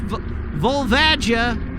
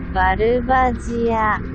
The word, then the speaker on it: Volvagia: It's VolVAGia. VolVAGia.